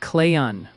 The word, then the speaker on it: Clayton: Some folks heard it more like clay ton instead of clayon. Might be splitting hairs, but hey. Oh, is it clayon without a t? Yep. Kind of like clayon. Real soft on that tea.